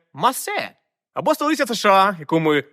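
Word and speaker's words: Marseille: від іншого французького міста Марсель якими адаптували літери хоча насправді Це масе або столиця США яку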